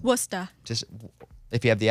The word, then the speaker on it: Worcester: Boston near Boston so Worcester is spelled like War Chester yeah yeah like the sauce and if we weren't